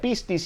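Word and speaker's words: πίστις: eso le estamos apuntando la palabra fe en el griego se pronuncia pistas y significa una virtud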